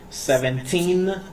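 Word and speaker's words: seventeen: Now, for the teens, you need to stress out on the last syllable.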